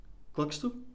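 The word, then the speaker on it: Kökçü: referees let's talk about Cox kxu mhm it's the the right way to say I say koku but K so um he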